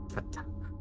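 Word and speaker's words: fhtagn: Okay, how do you pronounce that? Fatang.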